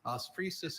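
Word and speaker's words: osphresis: Ofusis is a noun.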